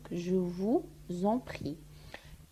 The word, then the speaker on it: je vous en prie: هنايا je vous en prie نديرو قاعدة الوصل ما بين vous و en بما انه اخر حرف هو الاس واول حرف من الكلمة اللي بعده فويل او حرف متحرك اللي هو le e دونك ننطقوها z. دونك je vous en prie.